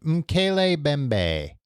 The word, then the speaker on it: Mokele-mbembe: And maybe that could happen with I have to keep looking up the phonetic pronunciation. Mokele-mbembe.